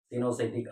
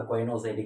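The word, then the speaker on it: coenocytic: ஜீனோசைட்டிக் ஆர் கொயினோசைட்டிக் எப்படி வேணாலும் pronounce பண்ணலாம்.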